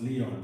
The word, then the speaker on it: Lyon: It's French. It should be pronounced Leon, but you know, Caribbean people don't pronounce nothing.